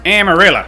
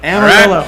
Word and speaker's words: Amarillo: taxes is that where you were born it's pronounced amarilla Amarillo I am sorry not whatever the hell you